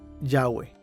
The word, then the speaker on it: Yahweh: fuente de escritura es Yahweh, pronunciada con J en alemán, así como escribimos el Jehová en español.